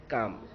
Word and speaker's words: calm: Wrong, storm and काम। तो ये पूरे स्पेलिंग लिखना है लेकिन बोलना है हमें इसी तरह, साइलेंट जो है वो नहीं बोलना है।